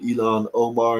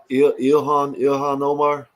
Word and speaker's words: Ilhan Omar: that they should deport him, like him and Elon Omar and all them. They're trying to deport Elon. him. What did Elon do? Not. I don't know how you call it. How you say her name? Ilhan Omar.